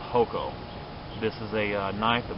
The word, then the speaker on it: hoko: over here to the other end and I mispronounced this earlier it's actually called hoko This is a knife that was actually found